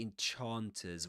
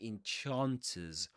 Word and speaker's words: enchanters: all time, sometimes known as prince of the enchanters, we mentioned that enchanters, parts, and Arthur are pronounced with the same vowel sound, at least um the stressed syllables.